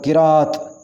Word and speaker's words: قراءت: غلط ہوتا ہے، مباحثہ۔ قرأت، یہ لفظ زیادہ استعمال ہوتا ہے، صحیح لفظ ہوگا قراءت، قراءت۔ مشاہدہ، صحیح تلفظ ہے